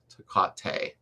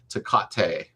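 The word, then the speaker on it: Takata: And I believe it's pronounced Takate. Right. I don't like trying to pronounce names because then I feel bad. Takate is what Justin's saying.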